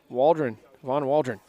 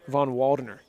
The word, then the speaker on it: Von Waldner: Von Waldron, I believe. I feel like I'm saying it wrong every time. Von Waldner. Von Waldner. I keep saying Waldron.